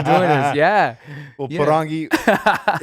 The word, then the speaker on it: Porangui: My name, you spell it with an accent on the I normally, Porangui.